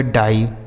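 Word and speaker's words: die: जैसे डी से हो गया ड, आई ई का उच्चारण आई, तो यह हो गया डाई, क्या हो गया, डाई।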